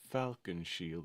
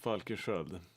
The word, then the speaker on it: Falkensköld: it sounds absolutely ridiculous to say my name is Falkenshield, or Falkenshold, or whatever. Falkensköld. That's how I say it.